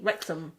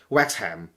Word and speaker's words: Wrexham: what what is wrexham when you say any any city's name with h-a-m at the end um it's usually m not not ham because the h doesn't doesn't have nothing um they don't they don't pronounce h no yeah h is is a no sound alphabet right you see how